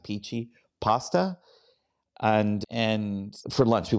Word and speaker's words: pici: and tried the Pici, it's Pici, just pronounce it Pici, pasta. And for lunch, we went down there for lunch. We had peachy pasta, and then I